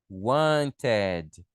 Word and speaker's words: wanted: O verbo terminou com T ou com D, eu falo ed. Então, por exemplo, want vai ficar wanted.